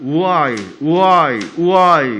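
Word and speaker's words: οὐαί: 헬라어로는 우아이 그렇게 읽어요.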